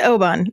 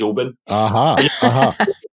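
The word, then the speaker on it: Oban: great yeah see and that's the classic american pronunciation there indeed the only thing is there's loads of scottish people say the americans can't pronounce but actually i think the americans are saying it right and it's just scottish accent says open david let's bring you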